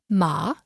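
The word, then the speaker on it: 麻: it can be pronounced with a rising tone ma this means hemp it can be pronounced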